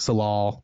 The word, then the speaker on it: Tsalal: So like I think it's called like Salal, like the T is silent, whatever.